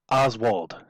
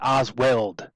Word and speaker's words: Oswald: just as quick sidebar i hate that canadians cannot pronounce oswald it's not osweld he's not welding two pieces of metal together it's lee harvey frickin oswald not osweld get it right and he made the